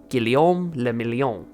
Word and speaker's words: Guillaume Le Million: of disco music named Guillaume Le Million. If it doesn't rhyme, you're not pronouncing it right.